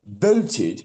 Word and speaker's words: voted: bolted and he went voted and I went oh that's how you say it voted not bed Ved and there was so